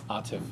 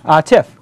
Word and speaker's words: Atif: So with us this week is Atif, I pronounced it correct? Atif. Atif, got it correct.